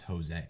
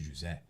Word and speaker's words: José: I mean, but the problem is that the name Jose in Portuguese is not pronounced Jose. It's pronounced José.